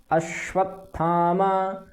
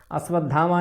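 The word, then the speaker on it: अश्वत्थामा: भी मिला अश्वथामा ठीक था है अश्व धामा नहीं है कुछ लोग अलग अलग भिन्न भिन्न उ चरण कर लेते हैं थामा है अश्वथामा अश्वथामा विकरण ठीक अश्वथामा विकरण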